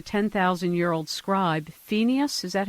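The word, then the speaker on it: Pheneas: he was a 10 000 year old scribe fenius is that how you pronounce his name that's right and this became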